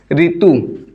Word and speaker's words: ऋतु: जो र है उसमें छोटी ही लगा करके इसका जो उच्चारण होता है उसी प्रकार से हम उच्चारण करने लगे हैं। जैसे कि ऋतु, तो हम ऋतु इस प्रकार से बोलते हैं, ठीक है।